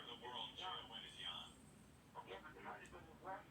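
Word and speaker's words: Jon: How come Jan is spelled J-O-N? Yeah, because when you're from that part of the world, J-O-N is Jan.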